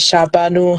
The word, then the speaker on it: Shahrbanu: well please kindly correct me um is it shabanu is is that the correct pronunciation okay so today we are here with shabanu yes is that correct yes okay yeah